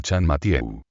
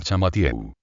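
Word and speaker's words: Champmathieu: La pronunciación del país cambia el yin en Chan y se le llama Chan Matiewu. Nuestro hombre adopta esta modificación y el aquí transformado en Chamatieu.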